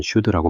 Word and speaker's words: SCHD: SHD 발음은 슈드라고 많이 합니다.